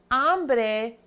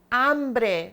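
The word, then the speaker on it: hombre: that's here is because it's ombre remember we don't pronounce the H at the beginning of the word so therefore to make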